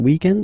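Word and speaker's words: week-end: we're talking about the weekend okay but then pronounce it the French way weekend the weekend okay but then in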